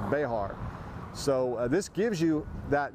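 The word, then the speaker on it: Béxar: the Battle of Béjar, B-E-X-A-R, but pronounced Béjar.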